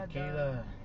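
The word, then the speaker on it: alquiler: in Spanish it's AL, Alquila. alquila.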